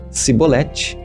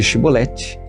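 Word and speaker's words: shibboleth: pronunciasse a palavra shiboleth se não fosse capaz de dizer bem a palavra e pronunciar-se por exemplo cebolete em vez de shiboleth ficava claro que estava mentindo nesse caso era morto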